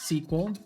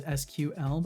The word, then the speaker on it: SQL: you enjoyed that water SQL is typically pronounced sequel like the word sequel in a movie series Al Some people prefer to pronounce it as SQL by saying each letter individually both pronunciations are considered correct well there we go